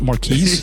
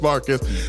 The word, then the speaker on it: Marques: Marcus. My name is Marquez. So You mean it's not Marquise? yeah, it's good old Marcus. It's Portuguese. It's pronounced Marcus in Portuguese.